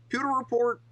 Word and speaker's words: Pewter Report: Pewer report.